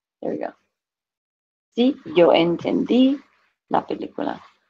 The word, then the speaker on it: entendí: Sí, yo entendí la película. Make sure you have the accent on the I.